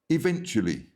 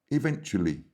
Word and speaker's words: eventually: Eventually. Eventually. So the stress is in the middle, in the second.